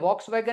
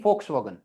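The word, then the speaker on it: Volkswagen: f आगे होता है foxwagen क्या है यह होता है क्या ऐसा कुछ है क्या कंपनी बेटा ऐसी कोई कंपनी नहीं है यह है इसको पता है क्या बोलते हैं volswagen नहीं foxwagen वो तो मैंने डायरेक्ट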